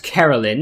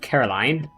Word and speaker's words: Carolyn: Apparently, her name is pronounced Carolyn instead of Caroline.